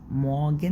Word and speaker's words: Morgen: الصباح هي الأداة التعريف، الارتكل دي اللي هي الدير والداس والدي، دي معناها يعني كلمة مورجن، مورجن اللي بالأصفر، مورجن، مورجن ما نطقتش الار برضو، مورجن، مورجن دي معناها صباح.